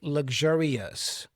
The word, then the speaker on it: luxurious: The suffix here is pronounced uh ous, ous, not ous. It's not ous, okay? So, us. I say luxurious.